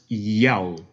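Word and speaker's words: ΙΑΩ: the Greek characters, Alpha, Omega, written in Greek, pronounced yell.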